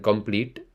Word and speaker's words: complete: And then complete. It is not a heavy T sound. It is a softer T sound.